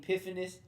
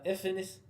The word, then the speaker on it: Epiphanes: So you hear some people pronounce his name Antiochus. Some people pronounce it Antiochus. Some people say Antiochus. Some people say Epiphanes. Some people say Ephanes. These names are pronounced in different ways, but it's still talking